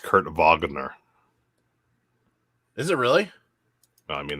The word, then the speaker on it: Wagner: It's pronounced Kurt Wagner.